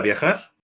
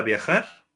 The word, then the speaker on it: viajar: Te gusta viajar? Le verbe viajar se prononce avec un R bien roulé.